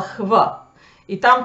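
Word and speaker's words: hvit: более-менее так и сохранилось, точнее, оно просто стало хв. И там так и пишется hv.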